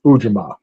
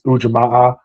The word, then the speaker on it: Ujima: It's always been pronounced in my circles as Ujima. Uh there are some that put another stressor on the A and it's ujama.